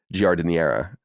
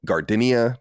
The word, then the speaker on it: giardiniera: And I've heard people call it gardenia. I've heard people call it all sorts of different things, but that's how you say it in Italian anyway, with a bad Italian accent.